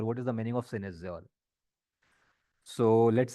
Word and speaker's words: cynosure: This is pronounced as cynosure. But this is the way it is written is cynosure, cynosure. But it is pronounced as synesure.